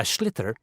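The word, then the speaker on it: sliotar: this ball called a schlitter that's s l s-l-i-o-t-a-r so it's not spelt the way it's pronounced you hit it into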